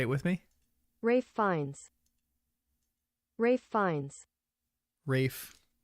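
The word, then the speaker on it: Ralph Fiennes: this what up Rafe Rafe fines everyone say it with me Rafe fines Rafe fines Rafe why the heck is it pronounced Rafe and not Ralph is that a is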